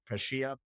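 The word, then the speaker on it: Pecchia: Another team down in the relegation zone, Parma, they moved on from their coach, I believe it's pronounced Pescia.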